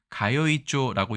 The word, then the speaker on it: 通帳: 통장을 일본에서는 통자의 음독인 츠에서 즈조라고 얘기를 합니다. 즈조 통장인데 문제는 이것입니다. 통장을 통장이라고 발음하지 않고 원래는 이것을 훈독을 해서 앞에 것을 가요이조라고 얘기했다는 것이죠.